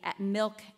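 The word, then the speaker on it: MILQ: You can also download the Milk app, that's spelled M-I-L-Q, like the milk that nourishes us. The Q at the end is for questions.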